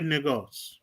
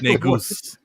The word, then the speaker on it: Negus: Let him play Negos. Say that again. Let him play Negos. The king. He gonna play old man. the wise king, the wisest Black Panther. What do you say? Negos. It's pronounced Negus.